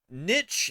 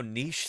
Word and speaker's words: niche: say it whatever whatever Niche is usually how Americans say it but I just kind of like how Niche sounds and so I I often say it in the European way but it's arbitrary like